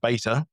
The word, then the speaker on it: beta: And they were like, if our software is a beta in the American pronunciation, or beta over here, then it's not because it's of shonky quality.